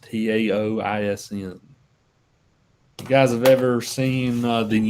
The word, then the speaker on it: Taoism: It's usually pronounced Taoism.